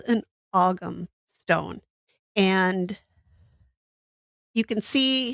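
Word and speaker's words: Ogham: It's not spelled like it sounds. Um, actually, I should just say Gaelic. Um, it's spelled O G H A M. So, it's auggum. And this is called an Aum stone.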